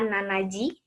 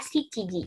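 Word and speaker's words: 七時: Kemudian 7 itu jarang sekali digunakan nanaji, gitu ya. Yang sering digunakan adalah shichiji. Jadi gunakan kata shichi. Shichiji.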